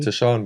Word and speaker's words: Taschan: Um um am I pronouncing your name correctly? Tashan but is I weren't going to correct you.